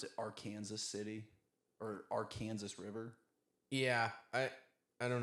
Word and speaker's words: Arkansas: I I saw that uh some people said that uh Arkansas is pronounced like the French way that the French would pronounce it and then Kansas is pronounced like the English way that the British would pronounce it.